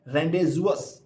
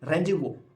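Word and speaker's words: rendezvous: v o u s it is not rendas if we try to pronounce without knowing this word we will pronounce like rendas but it not rendas it is randu Where Do We R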